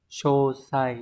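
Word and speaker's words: 詳細: Như vậy từ này đọc là Chô sai đúng không?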